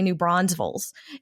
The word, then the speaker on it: New Braunfels: this one right because there is a town called New Braunfels is German but nobody I know pronounces it that way we say New Braunfels and there's no extra s in the middle and that's the title